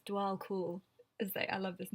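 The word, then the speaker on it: Djwhal Khul: spelled DJ wall cool but it it is pronounced like DW DW cool I think it's DW cool is I love this name DW cool Dharma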